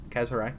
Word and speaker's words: Kaz Hirai: do you say his name has her eyes Kaz Hirai yeah yep yeah duh and the biggest the